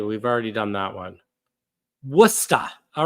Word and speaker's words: Worcester: Worcester. All right. Sean Rod just says it's called Worcester. All right. Thank you for the proper pronunciation.